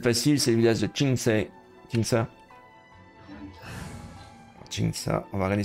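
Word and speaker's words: Qingce: Évidemment, Q, ça se prononce Chi. Che. Le son Che est le CE se prononce Sa, donc Qingsa.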